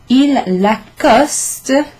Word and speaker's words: il l'accoste: So il l'accoste sounds like the name Lacoste, ce qui est le nom de la marque.